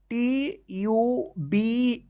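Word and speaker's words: tube: जु या जूने मत पढ़िए ठीक है ना टी यू बी ई इसको क्या पढ़ेंगे ट्यूब सी यू टी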